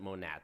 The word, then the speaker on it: Monat: in the company called Monet some people pronounce it monat but as far as I know it is actually Monet and she sent me